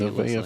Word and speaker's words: Nevaeh: Nevaeh Finley. Did I say it correctly that time? Yes, you got it that Good time.